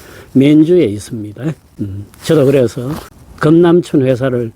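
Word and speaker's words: 綿竹: 면주, 우리식 발음으로는 면죽입니다. 사천성의 성도가 청두죠. 청두에서 북쪽으로 차로 1시간쯤 가면 다다를 수 있는 도시입니다. 2008년 사천 대지진이 일어났을 적에 요 면죽이 지진의 한가운데쯤에 있었습니다.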